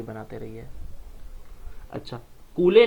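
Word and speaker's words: Cooley: कूले की एक बुक आई जिनका नाम था CH कूले, जिन्हें कि हम लोग कूली बोलते हैं, सही प्रोनाउंसिएशन इनका कूली है।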